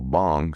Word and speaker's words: Bang: It's Bong, so I got that now. Although bang is easy to remember if you say it my way.